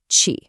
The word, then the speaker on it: ち: This character is pronounced chi. What's happening is that the consonant sound actually changes from a t to a chi.